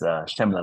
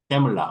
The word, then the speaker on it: Chemla: It's a it's a French ch. So it's Shemla like Chevrolet Shmula.